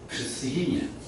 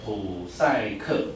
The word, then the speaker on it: Psyche: 所以那个普赛克，它根本就不是克哎，它是 he 的音哎，超酷的。